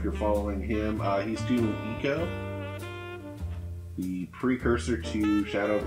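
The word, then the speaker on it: Ico: He's doing Eco, the precursor to Shadow of the Colossus. Oh, that's how you pronounce it.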